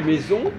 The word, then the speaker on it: maisons: Comme si je dis les maisons, on n'entend pas le S de maison. C'est vrai. C'est donc, exact. On écrit maison avec un S et on n'entend pas maison.